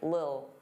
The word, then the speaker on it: little: Now little, native speakers, including me, generally pronounce the T's as soft D's. Little, little. Some native speakers really reduce this word and it just sounds like lil, lil, get a lil, get a lil.